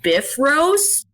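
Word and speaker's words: Bifröst: like falls off the bifrost or i guess in old norse it's pronounced biff rose um but when when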